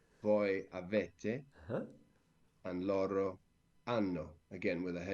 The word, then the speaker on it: hanno: Then noi abbiamo without H, voi avete without H, loro hanno with an H. But we don't hear it, and the only reason